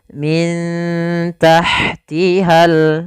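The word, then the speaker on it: مِن تَحْتِهَا: Maka cara membacanya disamarkan kepada huruf ta-nya. Min tahtihal.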